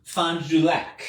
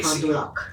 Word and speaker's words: Fond du Lac: So I think I'm pronouncing that right. Fond du Lac? Fond du Lac. Fond du Lac. Fond du Lac. That is 3 words. It's not. I'm kind of mashing it together, but Fond, F-O-N-D, space, D-U, space, lac, L-A-C.